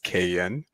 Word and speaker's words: Kayin: out there, you know, curious about the pronunciation of my name, it's Cayen. Why didn't you correct me before we got started? No, no worries at all. I I love when people say cayenne because they like to